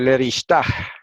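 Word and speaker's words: לרשתה: Ese puntito dentro que se llama mapik, lo que indica es que esa G hebrea, en esa palabra en específico, hay que pronunciarla. ¿eh? Ya estamos ahí, ven que vamos inyectando poquitos de gramática hebrea también, aparte de la lectura. Así que ahí se dice leristah, y se suena la H, así como se suena en inglés.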